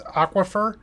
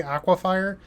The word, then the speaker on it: Aquifer: my last video that I've been mispronouncing this card the whole time. It's Aquifer. I always say Aquafire. I'll be honest, I don't care. But if you want the correct pronunciation, it is Aquifer, I suppose.